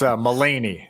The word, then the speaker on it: Maligny: is Tegan Maligny is Maligny. I can't remember how you pronounce it. It's Mullaney. It's Mullaney. Mullaney.